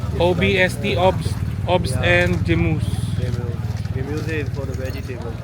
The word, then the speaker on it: Gemüse: Gemüse. Gemüse. Yeah, Gemüse. Gemüse. And ops is like fruit. Fruits. Fruit is ops, yeah. Fruits is Ops. of OBST. OBST, obs, obs Yeah. and Gemüse.